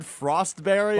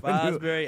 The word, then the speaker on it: Fosbury: Yeah, you said Frostberry, I believe. Fosbury.